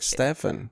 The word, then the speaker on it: Stefan: ways but it's really stuff i'm saying it's spelled with an f it is stefan it is his real name he's polish it's